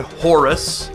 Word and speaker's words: Hor: The falcon represented by the ancient Egyptian god Horus, which is the Greek word for it. The Egyptians pronounced it Hor, H-O-R, but that sounds a little odd on a video if you don't know that.